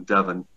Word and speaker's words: Devon: mainline uh philadelphia so he would have pronounced devon devin good good for him